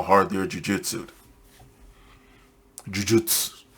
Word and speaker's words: Jujutsu: Jujutsu. Okay. Yeah, I can pronounce it right, but I haven't used Japanese in the longest time, so fuck it.